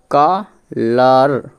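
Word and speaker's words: colour: পরে ইউ থাকার কারণে ইউ লেটারটি একটু সাইলেন্ট থাকবে তাহলে উচ্চারণটা বুঝে গেল কালার কালার মানে হল রং তারপরে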